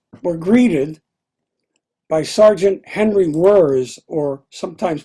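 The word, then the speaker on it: Wirz: The troops were greeted by Sergeant Henry Wurtz, or sometimes pronounced Wurtz, who would later be the commandant at Andersonville Prison.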